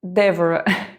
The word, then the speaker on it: Dévora: Elas andam por horas até chegar em um hotel que pertence a Dévora. Eles pronunciam assim o nome dela, mas ele escreve literalmente devora.